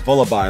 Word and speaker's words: Vullaby: It's Vullaby, like lullaby.